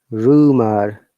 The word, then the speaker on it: rumor: Now we have to pronounce R, like, look at this explanation, like rumor. R at the beginning we are pronouncing, but the last R is not pronounced.